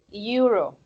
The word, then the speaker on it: euro: So the thing is, yeah, it starts by the vowel E, but this together, okay, they sound more like this, euro. So the pronunciation is of a Y, and Y is a consonant.